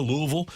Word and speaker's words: Louisville: Then tonight, you've got the Holiday Bowl in San Diego, Louisville, and USC.